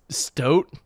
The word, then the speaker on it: stoat: Am I saying stout wrong? Is it stoat? Stoat? Holy fuck, sorry guys. I've never seen that word before, stoat. I guess it's spelt boat. Spelt similar to boat.